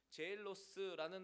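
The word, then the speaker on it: ζῆλος: 그런데 여기서 쓰인 이 시기라는 단어도 헬라어 원어를 보니까 제일로스라는 단어가 쓰였습니다. 영어의 젤러스와 거의 발음이 흡사합니다. 제일로스, 젤러스.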